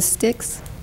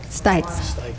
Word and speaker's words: Stykes: Pat, is it Sticks? How do you pronounce it? Stykes. Stykes. Okay, Pat.